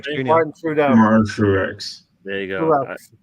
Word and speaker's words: Truex: Martin Truex. There you go. I didn't want to say it wrong, so it's like Granit Xhaka, the True X. Junior.